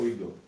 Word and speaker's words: oído: А я ее считаю oído. На и ударение, да. Ои.